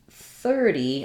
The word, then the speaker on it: thirty: at these particular words when i'm talking about um 30 i'm typically going to stress on that first syllable she's 30 years old it's also challenging to say 30 because of the consonants sounds in this word so i would build